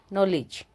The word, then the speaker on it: knowledge: है जो वो नहीं पढ़ा गया क्योंकि वो साइलेंट है, तो क्या हो गया, नाइफ। KNOWLEDGE नॉलेज, note.